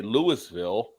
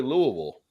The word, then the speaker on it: Louisville: where Todd is at some people say Louisville when it's really Louisville so you're right oh